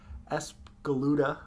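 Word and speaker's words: Espgaluda: we unveiled two for 601 and 602 it's as galuda you did it you said it right yeah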